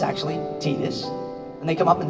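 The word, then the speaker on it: Tidus: looked at it saw titus but it's actually tedious and they come up and they say hi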